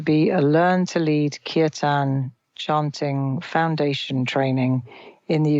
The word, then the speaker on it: Kirtan: Talk to me for a moment about the Learn to Lead Kirtan, I think you pronounce it? Kirtan.